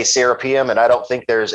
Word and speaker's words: Serapeum: So it's like it's just like the Anglicanized pronunciation. Like, you know, Americans say Serapeum, and when they say it over in Egypt, it's Serapeum.